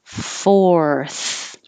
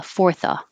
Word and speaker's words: fourth: thrill thrill thrill and fourth almost the same but in reverse you have the r first and then the th fourth um it doesn't matter if it's this fourth like number four or fourth like go forward um and when we say fourth of july you don't have to